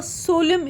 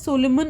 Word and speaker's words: solemn: may give you a solemn effect it is not pronounced as Solomon it is Solemn means it could contain